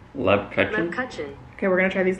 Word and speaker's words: Lebkuchen: Lebkuchen. That's what Google says. Lebkuchen.